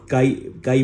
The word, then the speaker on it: chi: और इसे ना प्रेज्ड बाय chi काई करते हैं ऐसे काई प्रोनाउंस करते हैं ठीक है तो काई